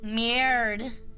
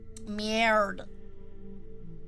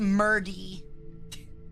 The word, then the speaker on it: merde: Merde. It's definitely not pronounced Murdy.